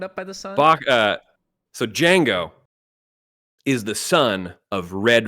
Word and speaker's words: Django: I'm very, very glad that he was also in Eric's list because we're talking the D is silent, Django from Mm.